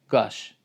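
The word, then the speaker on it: qaş: So in Azerbaijani they use Q in written form, but the pronunciation is not like Q or K or K. It's G, velar, voiced velar plosive. So gash, it means eyebrow.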